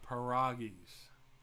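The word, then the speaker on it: pierogis: what is it jamie paragus it's a short o not a long enough so the poll lock weighs in folks there he is it's a short o not a long o for pieragis is it like bobby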